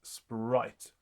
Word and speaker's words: spirit: notice that very often the word spirit, even if it is written as spirit, is intended to be pronounced as 1 syllable, which means it actually was pronounced sprite.